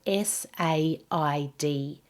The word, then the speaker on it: said: And many non-native speakers mispronounce the word said as well, S-A-I-D. That is pronounced with a short E, just like dead and bed.